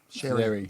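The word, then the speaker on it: Xerri: Sherry. That's it. Cherry. I keep wanting to pronounce the X.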